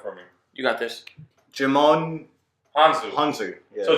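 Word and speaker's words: Djimon Hounsou: Jimon Hanzu. Hanzu. Yeah. So Jamon Hanzu, who played the D is silent.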